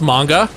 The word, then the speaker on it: manga: there John but I will say this it's pronounced manga okay excuse me and if you go to